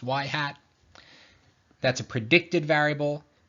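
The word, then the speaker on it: ŷ: little kind of like carrot on top it's pronounced y hat that's a predicted variable X is a real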